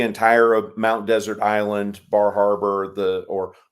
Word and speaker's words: Bar Harbor: of Mount Desert Island Bar Harbor the or bahaba as it is pronounced up there um the entirety of